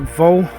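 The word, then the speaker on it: Waugh: Now I'm going to pronounce that Vol, W-A-U-G-H, July 1941, St Giles.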